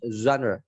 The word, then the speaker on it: genre: Nah ini bacanya genre. Ja, bukan pakai j, tapi ditiup genre.